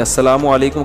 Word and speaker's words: السلام علیکم: میرے بھائی کا السلام علیکم اور صلی اللہ علیہ وسلم کا صحیح تلفظ بتا دیں. السلام علیکم کا ہے السلام علیکم, جو آج کل لوگوں